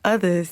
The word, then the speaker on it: Othaz: Am I saying? Othaz. Yeah. I'm talking about Othaz.